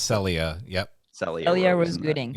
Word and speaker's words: Celia: um so far uh cecily rose i believe her name is celia rose i think it's pronounced celia yep sally elliot was